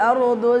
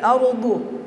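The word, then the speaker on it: الأرض: Nah, bedakan huruf dal dengan huruf dha. Huruf dha itu bagaimanapun kondisinya, maupun dia berbaris atas, berbaris bawah, berbaris lemah, tetap tebal cara pengucapannya.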